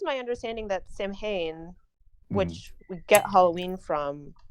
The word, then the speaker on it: Samhain: I don't know that I'm pronouncing that correctly. I'm sure it sounds cooler than how I'm saying it. No, Samhain, you're correct.